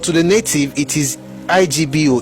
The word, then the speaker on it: Igbo: The word is now usually spelled and pronounced ibo o ebo but to the native it is Igbo o ego.